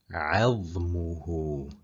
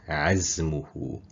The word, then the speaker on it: عظمه: If the tip of your tongue touches the lower teeth, you are going to pronounce the letter Z instead. The meaning changes completely.